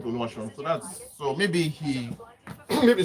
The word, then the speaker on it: Oluwaseun: So because they assume the E is giving it a little bit of sh sound, so it becomes sh, then on, just like SHUN.